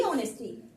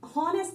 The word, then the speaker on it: honest: को आप देखो, दी ऑनेस्टी। ठीक है, क्योंकि हम इसे HONESTY या HONEST को हम ऑनेस्ट पढ़ते हैं, हॉनेस्ट नहीं पढ़ते हैं। इसका ये जो H है वो क्या रहता है, म्यूट रहता है।